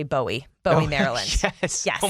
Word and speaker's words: Bowie: there's your fun fact i like bowie i love the name it's just like buoy you know nice single syllable boom there it is you know people aren't from here if they say bowie bowie maryland yes yeah